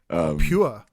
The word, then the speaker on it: PUR: Yeah, Pure. Pure? Yeah, P-U-R. Yeah, it is spelled like Per.